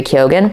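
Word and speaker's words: Keoghan: to pronounce his name I think that's how he pronounces it so that's how I'm going to pronounce it or Killian Murphy or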